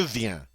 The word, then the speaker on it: viens: All right, notice that je viens, tu viens, il vient, all are pronounced the same.